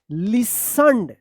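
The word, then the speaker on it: listened: एन यहां पे जो है ना टी साइलेंट था लेकिन इसमें में ई डी लग गया है तो क्या पढ़ेंगे? लिसन to music and विसल्ड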